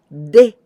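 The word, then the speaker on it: で: Te and 10, the sound is going to be de, de, like Denmark, de, this one.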